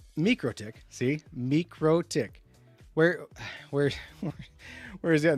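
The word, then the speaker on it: MikroTik: Is it because I say Microick because I believe it's Microick.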